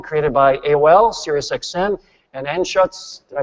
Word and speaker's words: Anschutz: JD was a founding team member and EVP of Network Live, the multi-distribution platform created by AOL, SiriusXM, and Anschutz, did I pronounce that right? Anschutz, yeah.